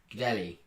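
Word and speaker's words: Gudelj: Like you say yell, say it J like Y in that yell. Gdelli. Yeah. Say it like a Y, basically.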